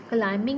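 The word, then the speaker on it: climbing: Crumbs में बी है, क्लाइंबिंग में भी बी है।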